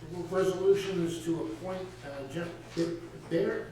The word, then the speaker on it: Baer: Next resolution is to appoint Jeff Baer, am I pronouncing that right? Jeff Byer. Oh, Baer, there you are.